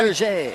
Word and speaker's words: Berger: Raphael Berg, I've got Berger on him. And Berger might be the correct pronunciation. So we'll go with the French pronunciation of that. Berger.